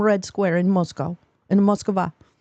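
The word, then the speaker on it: Москва: In Moskva. Because in Russian, Moscow is not a word. It is Moskva. That's how you say it.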